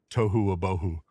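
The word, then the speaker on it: תֹהוּ וָבֹהוּ: In Hebrew, it's tohu wabohu. Tohu abohu? Tohu wabohu. Yeah, it rhymes and and it means basically it's formless or chaotic, it's disordered, and it's empty.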